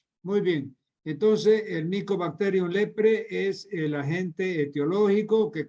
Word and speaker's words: leprae: una bacteria llamada micobacterium leprpre lepraes escribe la terminación ae se pronuncia como e ya saben ustedes no entonces Nico bacterium leprpre Este es un pariente